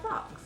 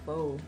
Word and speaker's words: faux: It's called fox. It's faux. The X is silent.